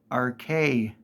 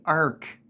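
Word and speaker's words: Arche: a y it is spelled a r c h e RK people still say Ark the only thing I can come up with is that they're too lazy and don't want to put another syllable on it so they say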